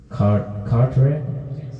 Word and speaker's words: Carteret: That in New Jersey, Carteret, is that how you say it?